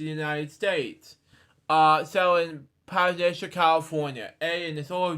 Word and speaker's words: Pasadena: the Netherlands to the United States, settled in Pasadena, California. A and his older brother, Alex. It's pronounced, Luke. It's pronounced Pasadena. Pasadena.